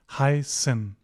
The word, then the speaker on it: heißen: Whenever you see this, don't panic, just treat it like an S sound, "heißen."